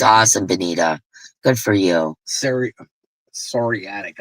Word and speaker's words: psoriatic: Psoriatic arthritis or whatever. Yeah, the P is silent.